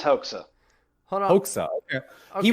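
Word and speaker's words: Hoxha: in that area so I always pronounced it hawka who is is that incorrect oh no it is HOA hold on HOA okay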